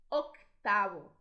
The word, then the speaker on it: octavo: Normalmente, em português, quando temos uma letra muda na palavra, a gente não vai pronunciar. Em espanhol, isso é muito importante. Aqui temos duas. Octavo, octavo.